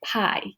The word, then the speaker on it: pi: So the letter pi is pronounced pie, just like apple pie, pumpkin pie, and it's written like this.